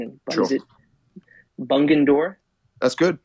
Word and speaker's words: Bungendore: So I'm going to try my best to pronounce the name of the town you were born in. But sure. Is it Bungendore? That's good. Bungendore's the, yeah, Bungendore.